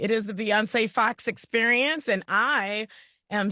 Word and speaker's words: Bionce: People are like, "How do you say your name?" Yeah, it's Beyonce just like this singer.